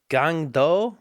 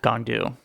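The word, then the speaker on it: Gang-du: our actual main character gang doe I think is how it's pronounced gandu that's what I said you know what to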